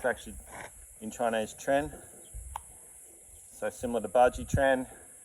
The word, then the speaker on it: Quan: Tren uh spelled qu u n which is actually like English people pronounce it or westerners pronounce it quan. It's actually in Chinese tren.